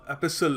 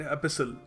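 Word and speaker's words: epistle: तो एपिसल actually एपिस्ट T silent एपिसल।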